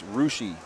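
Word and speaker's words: Russia: yeah versales you know what the dumbest one is rushi Ohio r u SS I a pronounced rushi you know come on guys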